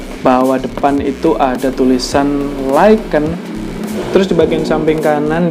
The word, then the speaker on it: Lycan: Tulisannya itu Lycan, tapi bacanya itu Lycan.